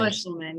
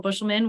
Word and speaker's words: Buschelman: Buschelman, yep. Your time starts now. All right, thank you. My name is Dr. Buschelman, which is spelled APRILBUSCHELMAN.